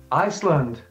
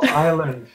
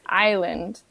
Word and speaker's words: island: The correct pronunciation is tour. So I would like to take a tour of the city. Iceland. Iceland, like the country? Well, actually, Iceland is an island, so... Oh, island.